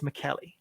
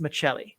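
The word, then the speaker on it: Maccelli: his name is matthias mckelly oh sorry matthias michelle a name that we've had to correct since i heard some interviews with him in finnish and that is how the finnish pronounce it i blame ep ringside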